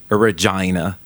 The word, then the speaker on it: Regina: Il faut prononcer Regina comme vagina.